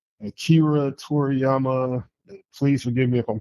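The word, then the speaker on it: Akira Toriyama: Akira Toryiama, please forgive me if I'm pronouncing his name wrong.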